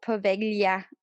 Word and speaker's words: Poveglia: know because there's a there's a specific sound that you make whenever you see the word or the letters combined g-l-i and that's pronounced good